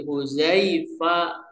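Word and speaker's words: حذيفة: Jadi huzaifa cara membacanya.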